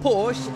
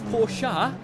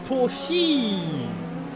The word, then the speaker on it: Porsche: written POS but okay apparently it's not Porsche it's pora or as Daniel has put into the chat it's pori so okay well then it's